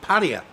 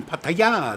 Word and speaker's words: Pattaya: In Thailand, they do tend to, in many of the words, emphasise the final syllable. emphasize the final vowel sound. More than we do. Pattaya, Yeah.